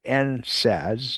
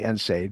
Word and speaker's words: NSAID: Those are called NSADs, nonsteroidal anti-inflammatory drugs. NSAD. And some people say NSAID, but it's NSAD and NSAID. Either one.